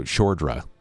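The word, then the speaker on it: Szordra: It's spelled S Z O R D R A. So Shra Shra Gallagher.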